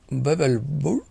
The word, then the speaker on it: Wewelsburg: Bebelsburg, pronounced in German. In English, would be Wewelsburg.